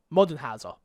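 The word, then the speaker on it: Moldenhauer: Studio mdh our cuphead co-creator Chad modern you modern Howser is how you say that told IGN that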